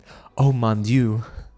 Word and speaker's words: Oh mon dieu: Oh mon dieu.